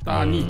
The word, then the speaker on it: 따니: 따니. 예, 따니. 타니 뭐 따니 이렇게 발음을 하는데, 그러니까 이제 제가 몇 번 말씀드렸지만 사우디의 이제 사우드 가문이 이제 맏형.